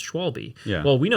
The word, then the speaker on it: Schwalbe: And a German guy messaged us on Instagram, and he told us it's Schwalbe. Schwalbe.